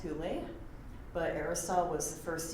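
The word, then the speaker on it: ὕλη: Likewise, other interesting trivia fact, the Greek word for matter that's usually pronounced hule, but Aristotle was the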